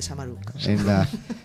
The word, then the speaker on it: Samaruk: Lo has pronunciado muy bien, lo de Samaruk.